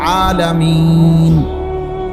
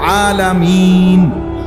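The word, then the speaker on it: العالمين: যেমন কোরআন শরীফ আছে আলহামদুলিল্লাহি রাব্বিল আলামিন, এই যে আলামিন, এটা শব্দটার নুনের মধ্যে জবর, তাহলে মূলত হবে আলহামদুলিল্লাহি রাব্বিল আলামিনা। কিন্তু আপনি মিনা কেন কর না? এই জন্য যে আপনি নিঃশ্বাস ফেলাইছেন, মানে এনে আপনি শ্বাস ফেলছেন, এই জন্য এখন শেষের অক্ষরটার মধ্যে কি বানাইলেন? সাকিন।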